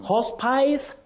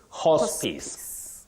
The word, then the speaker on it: hospice: terminally ill you don't say hospice hospies no if you check the phonetic transcription that I have used down here you'll realize that you say hospice hospice just like Prejudice not Prejudice hospice noice Prejudice I